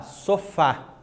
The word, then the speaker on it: sofá: Pega lá, sofá, né? Sofá, termina com A. Então, eu vejo lá a acentuação gráfica lá na última sílaba, né?